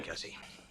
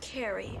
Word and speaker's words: Carrie: for some reason seems more preoccupied with consistently mispronouncing car's name come in Cassie Carrie go home take care of yourself Cassie it's Carrie sorry about this incident Cassie it's Carrie